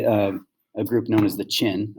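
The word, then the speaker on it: Qin: group known as the chin i know it looks like ken but chin are going to emerge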